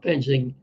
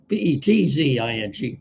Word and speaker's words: Petzing: It's very possible that some Cardinal free agents could follow Penzing. I'm sorry, there's a T in there. I didn't spell it properly in the headline. Petzing, Penzing, to the Detroit Lions following his hiring today.